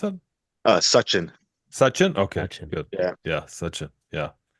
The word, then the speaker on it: Sachin: Sachin, is that how you pronounce it? Uh, Sachin. Suchin.